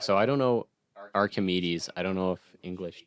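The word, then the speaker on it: Archimède: They say Archimede. I think that the k sound is that's Greek for the C. Yeah, so, they just say because ch in French is sh.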